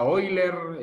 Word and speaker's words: Euler: tenemos un número ahí se escribe euler se pronuncia hoy leer y otro lo pronuncia de otra forma lo cierto que este